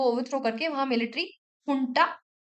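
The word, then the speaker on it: junta: Overthrow करके वहां military हुंटा, हुंटा government, वो लिखा जनता जाता है बट इट is pronounced as हुंटा, military हुंटा।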